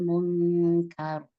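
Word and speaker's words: منكر: Kar kafnya enggak tebal. yang tebal rnya bukan qor q jangan qar tapi kar kar innasata tanhail fahsya wal munkar wal munkar itu ustazah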